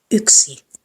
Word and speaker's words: yksi: machine, but the lips are round. So it's Y. Like you're about to make a whistling sound, but you will not whistle. Yksi. Syksy. Lyhyt.